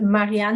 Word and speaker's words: Marianne: My name is Marianne, and it's actually pronounced Marianne the German way, kind of a bit of a giveaway, but I'm not German.